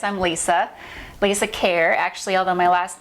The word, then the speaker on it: Kejr: absolutely so as he says i'm lisa lisa care actually although my last name is you might see it as kejr and not pronounce it as hair um i actually had